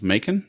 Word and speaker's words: Macon: Is that pronounced Macon, Georgia? That is Macon, yes, and it is northeast of there.